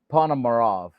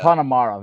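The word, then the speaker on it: Ponomarev: It is Panomarov. Uh Panomarov, I always say his name wrong. Basili Panomarov. Is that how you say it? The The kid from Carolina. You got it right there. Yeah. Panamarov.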